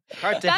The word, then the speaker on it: Cartagena: 6 when you flew all the way to Cartagena. Did I say that right? Cartagena. How about that? I think I said it right. No. No. Cartagena. That's one of my favorite things about Eric is he mispronounces things often.